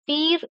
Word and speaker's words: Pierre: This Pierre, fire, it is pronounced, but in French, spelling is different and pronunciation is different in French. It is pronounced as peer in French, and GEAN is